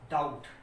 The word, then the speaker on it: doubt: और रूल है कि अगर कहीं पर आपको B के बाद T दिखता है तब भी B जो है वो साइलेंट रहेगा, यदि B के बाद T दिखता है। तो ये कुछ एक मैंने एग्जांपल लिखे, जैसे ये DOUBT, तो इसको हम पढ़ेंगे डाउट। क्या पढ़ेंगे? डाउट।